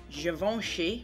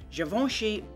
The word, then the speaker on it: Givenchy: Now, I've never tried it before, but this is Givenchy, which I believe is how you pronounce it. Givenchy Base Mascara Perfecto.